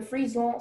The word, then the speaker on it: frison: The sentence is, the frison silk, which forms outside the cocoon, is too coarse to make any elegant dress.